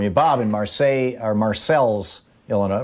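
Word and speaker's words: Marseilles: bob and marseille are marcel's illinois right you pronounce the ls right yeah uh well yeah you do here because we aren't in france and nobody speaks french here there you go yeah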